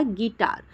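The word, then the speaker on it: guitar: ही next है हमारा गिटार आप देखो कि हम गिटार में यू टार नहीं बोल रहे हम क्या बोल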